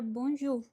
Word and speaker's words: bonjour: Já quando temos OU na palavra, vamos pronunciar U. Observe que, nesse caso, a pronúncia U será igual ao português, tá? U. Como, por exemplo, na palavra bonjour, tá?